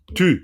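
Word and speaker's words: དུས: Tu. Là, au niveau de la prononciation, alors là, je me permets d'être un peu sévère, c'est tu, hein, tu. C'est pas du, hein, tu.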